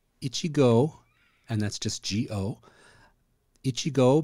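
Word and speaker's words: 一合: just like oh I'm scratching I'm itchy so Ichigo Ichigo and that's just go Ichigo means one 180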